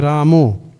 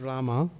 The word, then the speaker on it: Rama: Hare Ramu. The O. Because sometimes, the Bengalis because their pronunciation is like that. But we don't do that. Ramu, we chant Rama. Oh, Ram. Ram is 2 syllables.